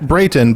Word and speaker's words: Brayton: Pronounced Brayton, but you guys can say it however you want to.